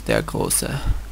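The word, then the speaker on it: der Große: on a game between Jones de closa which is the German pronunciation and 91 um Aztec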